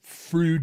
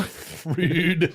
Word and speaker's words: Froude: So there was a naval engineer by the name of Froude who developed this Froude number. Did he develop a new vowel to say his name also? Froude.